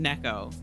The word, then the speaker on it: Nico: It's like the actual, like, her name is Cat in Japanese, but it is actually pronounced Neko. But I've always pronounced it Nico because I was a fucking weeb. And it feels weird to say her name differently just because it's supposed to be pronounced Neko.